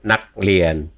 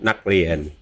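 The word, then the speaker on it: นักเรียน: Again, you're aspirating the K at the end. Of course, it's at the end of a syllable, kill the throat. So, naklien, naklien. Naklien. No, see how your liaison, the K to the R. It has to be naklien. There's no k. It's not naklien. Naklien.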